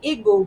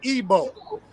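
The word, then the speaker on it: Igbo: colonizers came over there and now we say igu but it was really Eber or a like it's really ebo like like the pronunciation right the I the i in ebo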